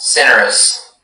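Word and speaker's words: cinereous: Yes, cinerous. May I have all of the information? Cinerous is the only pronunciation.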